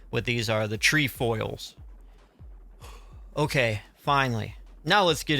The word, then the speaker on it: Trefoils: That's how they say what these are, the Trefoils.